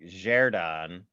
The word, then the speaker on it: Xherdan: Well, I heard it pronounced like Xherdan. I think you nailed it.